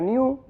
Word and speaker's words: GNU: GNU en inglés se pronuncia new, como nuevo, le gustó.